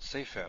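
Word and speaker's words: סֵפֶר: What about sefer? I think we've seen sefer. Stress on the first syllable and a segol on the second.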